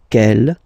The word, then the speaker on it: quel: And the good news is that you will pronounce them the same way. Alright, so quel, quel, quel, and quel. Okay, remember that in some